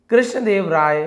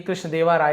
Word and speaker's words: कृष्णदेव राय: वन डे, एक दिन, king कृष्णदेव राय, तो ये कृष्णदेवा राय ऐसे लिखा, एक्चुअली कृष्णदेव राय है ना, वाई के बाद ए लगता है।